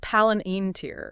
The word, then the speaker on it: Palantir: right so get this paler pronounced palen iner yeah paler has been